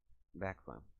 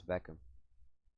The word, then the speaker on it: bequem: Ich bin sehr bequem. I think that's how you say it. Bequem. No, it's Beckham. No, that's not how it works in the German dialect. It's bequem.